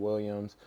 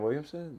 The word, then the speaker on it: Williamson: Hopefully we can get somebody like Zion Williams in a situation like that. Zion Williamson? Williamson. My bad. Zion Williamson. I actually have heard it said both ways.